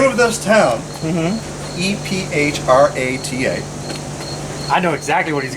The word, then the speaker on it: Ephrata: So, the name of this town, EPHRATA.